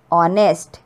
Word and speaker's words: honest: Honest. H we are, H is silent. Higher. Honor. So ये सारे words में H is silent. We are not pronouncing H.